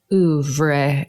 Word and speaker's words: oeuvre: Walk us through your oeuvre.